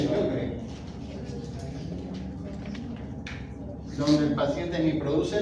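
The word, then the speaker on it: Sjögren: Green se se pronuncia o yogremen también les dice síndrome de yogren, donde el paciente ni produce lágrimas ni produce saliva.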